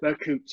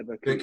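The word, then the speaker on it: Berkut: Bakut, is that how you pronounce it? Bakut, yeah, Bakut.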